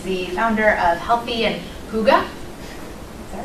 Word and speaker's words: Hygge: But Sarah is the founder of Healthy and Hygge.